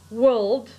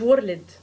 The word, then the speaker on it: world: اوكي، اول كلمة النطق بتاعها world world world، يعني العالم world. اوكي، الار سايلنت. اوكي، مش ورلد. ورلد دي لو قابلتك في امتحان اورال وسمعتك بتقولها انت حر بقى، اسمها world world.